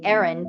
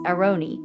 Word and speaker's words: Aaron: And so for me as an American, I want to say Aaron, but the truth is it's Aroni.